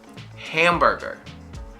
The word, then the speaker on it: hamburger: i like to say ham it's not him it's ham and then burger bur same sound er as bird or girl bur gur literally two sounds two vowels that are the same burger hamburger hamburger hamburger hamburger this next one